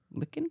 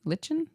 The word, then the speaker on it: lichen: Base notes, aquatic notes, amber grease, oud, sequoia, licken, lichen, lychen. I never know how to pronounce that word. Is it lyken?